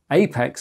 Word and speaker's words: APX: standard apx managed applications apx are now understand should be pronounced Apex in the context of vanilla OS and in addition to